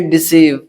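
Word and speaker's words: deceive: Next friends ई के बाद जब किसी वर्ड में ई आई आए तो ई आई का उच्चारण बड़ी से करते हैं, पढ़ते हैं। जैसे रिसीव, क्या? रिसीव, कंसीव, सी ओ एन सी ई आई बी, कंसीव। ऐसे डिसीव, ये सारे वर्ड्स देखिए किस तरह से बड़े ई का उच्चारण लेते हैं। यानी जब ई के बाद आई हो तो वहां बड़े ई का उच्चारण होता है, ठीक है।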